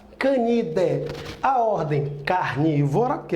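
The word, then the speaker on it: Canidae: é a família Canindé se escreve candiday mas não se pronunciou a Canindé a ordem carne vó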